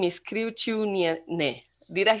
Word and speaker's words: Kriaučiūnienė: She comes from Lithuania, and I have to look for my notes to pronounce her name right. Well, Sigita is fine, and her last name is Kriaučiūnienė.